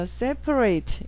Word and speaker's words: separate: 그 퍼에서 A가 에 발음이나 발음 안 나고 발음 난다는 거. 그 다음에 rate에서 A가 자기 알파벳 이름처럼 A 난다는 거. 그래서 separate 이렇게 외워놓으면 되죠.